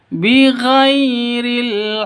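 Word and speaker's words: بغير: bighhairil haqqo bighhairil haqqo ghai sifat l bighhairil sifat lin lentur lemas tidak boleh disentak tidak boleh dipanjangkaniril Salahil juga salah yang betul bighairil haqq seperti itu.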